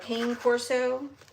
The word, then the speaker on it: cane corso: Uh these are conic corsos which is spelled ca like cane candy cane uh cane corso.